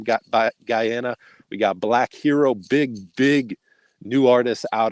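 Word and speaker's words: BLVKH3RO: of jamaica right now black hero which is spelled b l v k h three r o in case you trying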